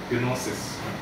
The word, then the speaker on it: gnosis: That's why the G is there but not pronounced. Originally it was pronounced, but somehow when they went into Europe to Greece, they just slowly became quiet. I think there was a time to pronounce it, but it's a bit difficult to pronounce.